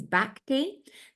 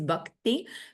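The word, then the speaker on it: भक्ति: You might be more familiar with that word pronounced as bhakti. That is a very anglicized pronunciation of the Sanskrit. A closer pronunciation is bhakti, but I'm sure I will evolve my Sanskrit pronunciation until the day I die.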